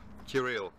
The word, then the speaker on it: Kirill: Kirill.